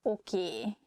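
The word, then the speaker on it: oké: okay okay okay okay this word comes from english probably it's easier for hungarian speakers to pronunciate it that way so we just say a sound a at the end so it sounds okie instead of okay and easiest excuse me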